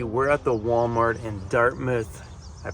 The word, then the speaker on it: Dartmouth: We're at the Walmart in Dartmouth. I pronounced that right for all my East Coasters. They're like, it's not Dartmouth, it's Dartmouth. That's how they pronounce it.